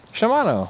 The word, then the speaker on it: Shimano: see what kind of a oh Shimano okay Shimano all right yay I finally said it right